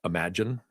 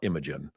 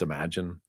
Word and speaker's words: Imagen: Um your your true diffusion model in uh Google cloud is a is imagine is the way they pronounce that. It's not Imagen, it's imagine.